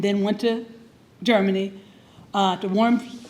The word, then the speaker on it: Worms: went to Germany, to Worms. The Germans would pronounce it Worms, and I'm American, so it's Worms, Worms, Germany.